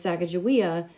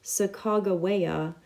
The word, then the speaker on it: Sacagawea: words in their journals the pronunciation of sagajoy's name and years since the expedition as sacajawea does not match sacagawea the way that the